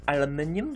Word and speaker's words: aluminium: So our metal presses, of course, are for the aluminum plating, or aluminium, depending on how you want to pronounce it.